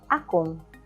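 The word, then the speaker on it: akong: like what happened here ako has an addition of ng and you pronounce it as akon the second function of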